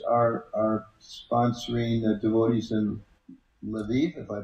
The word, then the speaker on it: Lviv: the Canadian devotees are are sponsoring devotees in Lviv if I pronounce yes leiv yes correct my poor notes um what are